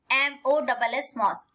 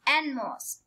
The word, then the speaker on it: NMOS: It is pronounced as ENNMOSS, NMOS.